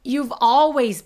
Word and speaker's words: you've always: 그래 요런 표현 요거는 you've always been youve always been you've always been 요거 발음할 때 주의할 거 you 유 이렇게라고 모음소리 의소리 집어넣지 말고 youve always youve always 이렇게이어서 소리 내 주시고요 그다음에 always 아니고 하고